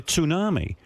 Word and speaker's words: tsunami: know, they're carrying on like they're expecting a tsunami and she goes and she goes she goes tsunami. I go yeah tsunami.